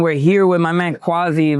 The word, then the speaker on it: Kwasi: We're here at Bit Basel 2025, and we're here with my man Kwasi, right? Is that how it's pronounced?